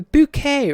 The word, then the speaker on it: Bucket: than answering the phone bucket residence it was a bouquet residence because it was that's how she chose to pronounce it because it sounded better uh in america british